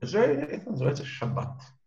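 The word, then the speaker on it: שבת: Если вы приходите в ашкеназскую синагогу и слышите там, например, вместо «шаббат» «шаббес», да, не удивляйтесь, именно потому,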